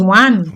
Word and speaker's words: Juan: The person's name is Juan. Juan. Yeah. J is H. It's pronounced H.